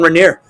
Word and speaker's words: Regnier: Okay, we got the host, Regnier. Hi, what's up? It's pronounced Regnier, but close enough.